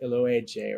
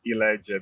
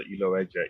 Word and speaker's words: Iloeje: It's Iloeje. The O is actually silent for the most part. All right. But I would also answer to Iloeje if someone feels comfortable calling me that, but Iloeje is the right pronunciation.